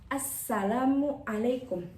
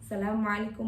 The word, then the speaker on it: assalamualaikum: Jadinya assalamualaikum bukan asalamualaikum warahmatullah. Asalamualaikum warahmatullah. Nah, kalau kita mengucapkan salamualaikum maka salat kita tidak sah. Karena sahnya itu ketika kita mengucapkan assalamualaikum kayak gitu ya.